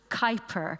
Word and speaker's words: Kuiper: need to use is Art Kuiper as in the art cloud and Kuiper belt so I'll just spell